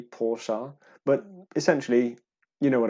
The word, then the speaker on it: Porsche: united kingdom so therefore we always called it a porsche it is an incorrect way of actually pronouncing it it should be porsha but essentially you know